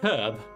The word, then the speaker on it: herb: Except herb. Right? It's only 4. It's only 4 letters. Americans are not the French. Stop. Just put some frickin' effort in and pronounce the frickin' H.